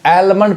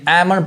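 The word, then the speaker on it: almond: अब इसको भी मैक्सिमम पीपल मिस प्रोनाउंस करते हैं, यानी इसको एलमंड पढ़ते हैं, जबकि ये एल नहीं पढ़ाएगा। एल क्या है? साइलेंट है, यानी एमंड पढ़ाएगा, एमंड। यहाँ देखिए, यहाँ भी इसको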